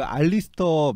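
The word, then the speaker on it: Alister: 네, 책 그 알리스터 맥그라스 아니면 앨리스터 맥그라스라고 읽는 제가 따로 설명 안 해도 아시겠죠?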